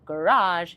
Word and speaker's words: garage: Então, por exemplo, eles falam garage, eles falam café e enfatizam a última sílaba para respeitar essa tendência de palavras que são emprestadas do francês terem a última sílaba tônica.